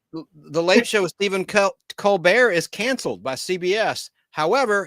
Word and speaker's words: Colbert: family in South Carolina, none of them pronounce the last name the way he does. Is he trying to be French? Yep. Well, what is it? Colbert? Covert. Yeah. The T is not silent.